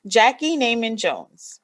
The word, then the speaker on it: Jackey Neyman Jones: I am your girl, Kelly Edwards, and today we are talking to Jackey Neyman Jones, right?